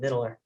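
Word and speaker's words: victualer: I guess in the old days, they used to call it vittler.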